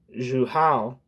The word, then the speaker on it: Jouhaux: In France, the syndicalist bureaucracy of Leon Jouhaux See how to pronounce that.